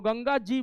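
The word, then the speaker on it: Ganges: ठीक है, तो ये भी पूछा सकता है आपसे कि व्हाई इट is written as द गैंगेज, तो बोल दीजिएगा कि गंगा जी के कारण जो है उसका प्रोनाउंसिएशन जो है वो गैंगेज हो गया है।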